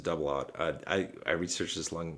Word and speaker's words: double aught: So if you're not into firearms, like 0-0 means double aught. You pronounce it double aught.